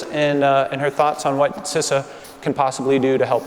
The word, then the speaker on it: CISA: a hotly debated topic and that is the pronunciation of my agency it's sissa seriously it's not that hard it is pronounced sissa but seriously i am really honored and thrilled